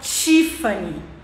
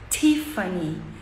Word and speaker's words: Tiffany: na hora de falar Tiffany que a gente fala que ela marca azulzinha né o azul Tiffany que é esse azul aqui a gente fala Tiffany mas o americano fala Tiffany bem suave Tiffany fé Esse é o